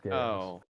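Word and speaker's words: geas: by a spell called Gaye or gaos it's pronounced gayos the other is apparently there's a lead on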